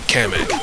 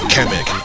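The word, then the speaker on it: Kamek: people pronounce his name I always say kamak like cam camera I guess it's because I wanted to sound like havoc I don't know if people pronounce that Havoc but that's where I got that's where I got the understanding that his name is pronounced kamic like Havoc now this is my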